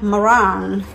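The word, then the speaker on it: meringue: Ya, ingat enggak maringue, Tia? Tuh, dibacanya merang.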